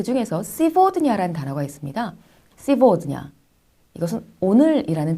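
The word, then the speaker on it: сегодня: 이제 앞으로 여러 가지 단어를 배우실 텐데 그 중에서 시보드냐라는 단어가 있습니다. 시보드냐. 이것은 오늘이라는 뜻을 가지고 있는 단어입니다. 시보드냐의 경우에도 마찬가지로 게라는 철자가 v 소리가 나고 있습니다. 시보드냐.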